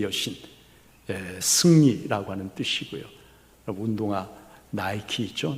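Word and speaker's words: Nike: 여러분, 니카오, 이긴다, 정복한다, 승리한다, 그런 말인데, 헬라 신화에서 승리의 여신을 뭐라 하면 니케라고 그래요. 니케 여신, 승리라고 하는 뜻이고요. 운동화 나이키 있죠? 나이키가 바로 니케의 영어식 발음이 나이키예요.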